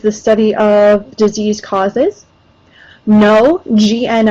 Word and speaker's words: gno: study of disease causes no GN o the g is silent um means knowledge so